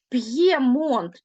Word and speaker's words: П'ємонт: позначає два звуки інтерв'ю П'ємонт тобто чуєте Ми чуємо чітко роздільну вимову звук п твердий звук є позначає два звуки так само Рів'єра в